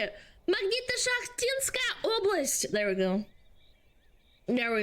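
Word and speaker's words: Magnito-Shakhtinskaya Oblast: horror and I was curious to hear you pronounce the name. It's called Magnita Shachtinskaya Oblast. Magnito-Shachtinskaya Oblast.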